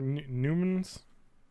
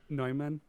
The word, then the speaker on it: Neumann: yeah what are they they're Newman's I think it's pronounced Neumann uh-huh it's they have